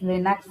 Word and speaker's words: Linux: In this text we are discussing about Windows, Unix, Linux and Mac OS.